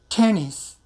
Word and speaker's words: tennis: In this case, we have to pronounce like this. Tennis. You don't have to make a big sound. Tennis. Still, you aspirate and you can hear the sound T.